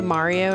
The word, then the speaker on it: Mario: I am a pro Mario have you notice bugs doesn't say Mario anymore it's Mario yeah he says the the Italian pronunciation the correct pronunciation all right come on